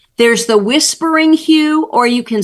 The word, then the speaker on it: HU: or a technique you know but um H Hugh okay H there's out loud there's silent there's the whispering Hue or you can spell it I'll give you